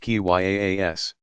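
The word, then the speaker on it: qiyas: apply a form of reasoning by analogy kia's pronounced ki yaa s that followed strict rules so as to keep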